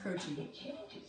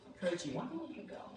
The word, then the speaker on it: Croce: My last name's pronounced Croce. Croce.